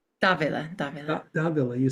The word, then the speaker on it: Dávila: Dávila. Yeah. There's usually an accent over the first A in Dávila, but it's often forgotten.